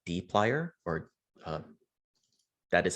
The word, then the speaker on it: dplyr: the tidy verse there is a package called d plier or that is how you pronounce it d plier so just like how we loaded up the